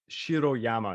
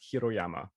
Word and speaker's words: Shiroyama: stuck in my head, it's Shiroyama, not Hiroyama, that I said before. Oh, Sorry. Yeah, Yeah, Shiroyama, not I just Hiroyama. realized I said Hiroyama.